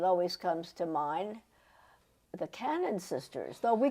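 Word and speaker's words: Kanan: was called Cannon Road, people pronounce it, and to this day they pronounce it Canaan, and they would jump on you and say, no, it's pronounced Cannon.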